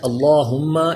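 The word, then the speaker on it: اللّٰهُمَّ: گیا، رضی اللہ۔ نیکسٹ اللہم، اس کا لام یہ بھی کیونکہ اس سے پہلے پیش ہے تو پر پڑھا جائے گا، قالوا اللہم، میم مشدد ہے اس لیے غنہ کریں گے.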